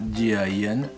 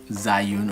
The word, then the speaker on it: Zhiyun: It's pronounced Zhiyun, not Zhiyun or Zhiyun, even though the ZHI actually is pronounced Jia in Mandarin, and YUN is pronounced Yun.